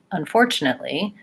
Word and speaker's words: unfortunately: for the other words breaking the word apart making each sound separately and then speeding up and pulling it back together so that eventually you can say unfortunately with the correct sounds and the correct two syllable stress great questions thank you